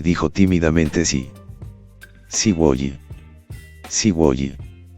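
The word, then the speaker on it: すごい: y dijo tímidamente sí sigi sigi es la pronunciación de sugo en japonés que probablemente significa Wow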